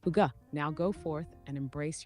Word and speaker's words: hygge: Okay, so pronounced Huga. Yep, exactly. Huga.